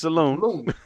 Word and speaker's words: saloon: Say it right, it's saloon.